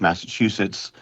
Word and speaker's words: Massachusetts: Well, he's mispronouncing mass Massachusetts where the last word last part of Massachusetts sounds like dookie. Okay. Okay. So, that's how he's pronouncing mass.